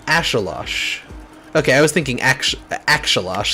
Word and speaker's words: axolotl: it's a pretension thing I think like it's my understanding that like the there's like native folks who like First Nations folks who pronounced it that way so I'm like maybe I should try to pronounce it that way instead of using the English anglicized version of it ashilosh okay I was